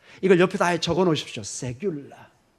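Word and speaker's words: סגולה: 세귤라. 약간 영어 발음의 세큘러 여기 비슷한데 그거하고는 전혀 다릅니다.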